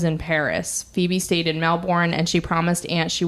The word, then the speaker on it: Melbourne: you would say it Melbourne oh oh I'm saying it wrong pause please so we just did uh some quick Googling and I have been pronouncing I was saying Melbourne it's melbour so my apologies I